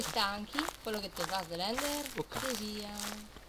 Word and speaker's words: Slender: su Strender. Slender, idiota. Strender. Vabbè, Slender. Strender. O come cacchio si pronuncia.